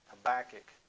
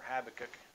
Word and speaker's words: Habakkuk: week we're going to use a verse in Habakkuk or Habakkuk depends on how you want to pronounce it we're going to take a look